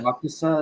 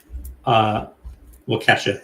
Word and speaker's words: Waukesha: Waukesha, is that how you say it?